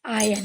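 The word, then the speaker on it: iron: इसको आयरन नहीं पढ़ते हैं। यहां पर आर साइलेंट होता है। इसको क्या पढ़ते हैं? आयरन। आर को छुपाओ। इसको क्या पढ़ेंगे? इस तरीके से पढ़ा जाता है। और स्पेलिंग क्या लिखी जाती है? ये आर इसमें चुप रहता है तो उसको क्या पढ़ते हैं? आयन।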